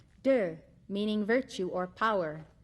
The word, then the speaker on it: Te: concepts of the book Dao meaning way it is spelled t a o dur meaning virtue or power spelled te Jing spelled